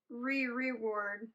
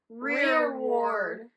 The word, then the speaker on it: rereward: We've been pronouncing this wrong. So it's not reward. It's Rereward.